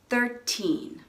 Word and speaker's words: thirteen: 17, 18, and 19, the stress is on the teen. That's the second syllable. That means it's a little bit longer, maybe a little bit louder. 13, 14, 15.